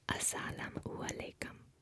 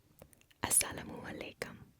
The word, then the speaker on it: Assalamu alaikum: The greeting in this language is Assalamu alaikum. Assalamu alaikum.